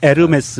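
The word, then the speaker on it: Hermès: 홈 애스 아깝다 아 아 양호 몰리 싫어하면 에르메스 입니다 이렇게 지욱 발음이 안 난다 면서 요금이 에어 h 가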